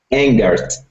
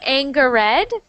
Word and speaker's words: angered: So everyone if you ever see s h o s io n that is pronounced shun. So decision. Okay. Decision. Good. Good. Decision. Good. Good. Next one. angered.